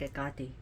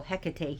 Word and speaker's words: Hecate: of which, is Hecate, who we call Hecate here, or Hecate, but is Hecate in Greek. Listen to how the Greeks pronounce the name. They're gonna say Hecate. You'll be like, what? Huh? Who's Hecate? She's Hecate.